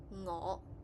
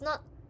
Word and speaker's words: 我: If you want to pronounce it, try imagine when you initiate the sound, stick the back of your tongue to the roof of your mouth while the tip of